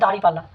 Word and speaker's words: দাঁড়িপাল্লা: দলের যে প্রতীক রয়েছে, নির্বাচনী প্রতীক, সেটি হচ্ছে দাঁড়িপাল্লা। অনেকে এই ক্ষেত্রে দাঁড়িপাল্লাকে দাঁড়িপাল্লা লিখে ভুল করেন। মূলত দাঁড়িপাল্লা শব্দটি এটির উচ্চারণ হচ্ছে দাঁড়িপাল্লা, অর্থাৎ এটির উচ্চারণ হবে দাঁড়ি পাল্লা।